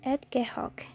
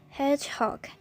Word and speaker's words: hedgehog: cute animal the Hedgehog often you hear the Edgar Hawk so it's Hedgehog each Hedgehog so get that each Sun Hedgehog Hedgehog not an egg Coke so we don't drop